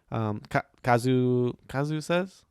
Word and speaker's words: Kazusa: Kazu says, is that how you say her name?